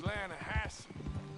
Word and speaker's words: Lanahatchee: You mean the Lanahassee River? No. The Lanahatchee. It runs right near here. Yeah, but it's pronounced Lanahassee.